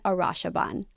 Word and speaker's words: Arasheben: in the one and only Jason Arasheben. Did I say that right? You said it right.